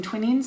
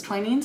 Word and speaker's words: Twinings: also got twain's tea which i've been pronouncing twinnings my whole life and the lady at the store said it was twinings i got this in